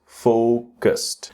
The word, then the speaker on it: focused: You can see e d. So, your instinct is to pronounce with a d sound, but it's really with a t sound.